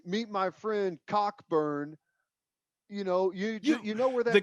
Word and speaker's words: Cockburn: The C and K are silent.